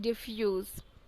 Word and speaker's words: diffuse: Double F पढ़ रहे होगे ना, गलत, DIFFUSE, डिफ्यूज। मैं टेस्ट लेती रहती हूँ। DIFFUSE, जिसकी स्पेलिंग होती है और इसका मतलब होता है to spread over a wide area.